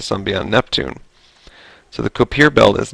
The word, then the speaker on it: Kuiper: So the Kuiper belt is not a... Actually, I think it's pronounced Kuiper.